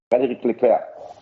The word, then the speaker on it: Frédéric Leclercq: Can you please pronounce his name for us? Frédéric Leclercq.